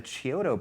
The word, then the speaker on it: Chiodo: It was produced and directed by the Chiodo brothers. I believe that's the correct pronunciation. That's how I've Chiodo. always heard it, Chiodo brothers, whose background is really in animation and special effects.